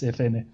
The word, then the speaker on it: Efene: Note that I say FN because many people say FN too. So I tend to say FN, but the correct pronunciation is Efene.